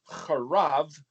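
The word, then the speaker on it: חרב: Well, that's the sword of the bet, het, resh, bet, because het, resh, bet, pronounced charav, or charabah, that Horeb, that's the sword.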